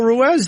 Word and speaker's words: Ruiz: saying your name wrong we're doing Carl Ruez these days yes sir is that right or you going to tell me two months from now that's wrong too RZ I was calling him ruse forever and he wouldn't correct me I'm going I don't